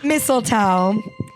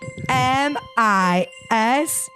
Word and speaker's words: mistletoe: I went really gung ho, and then I halfway through was like, The silent T is pretty good.